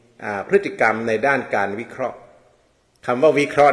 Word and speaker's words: วิเคราะห์: แปลก ๆ กัน นะ ว แหวน สระ อิ สระ เอ ค ควาย ร เรือ อ่า สระ อา สระ อะ แล้ว ก็ หอ หีบ แล้ว ก็ ไม้ กรัน อ่าน ว่า วิเคราะห์ คือ ตัว มัน ออก